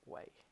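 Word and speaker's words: wei: me great way cool way that's how you pronounce it way so though equal to number of way owned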